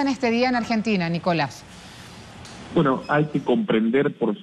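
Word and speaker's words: Nicolás Moras: se llama nicolas moras nicolás se pronuncia así tu apellido lleva acento en la a cómo te va efectivamente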